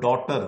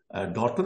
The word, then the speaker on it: daughter: which we find in our English word daughter where GH has become silent if you take the